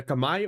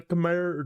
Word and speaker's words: Khmer: The Kamai or the Khmer, depending on how you prefer to pronounce it, were the pick for Reverse Acropolis.